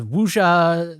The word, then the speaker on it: wuxia: It's like a wuxia, that I think that's how you pronounce it, WUXIA.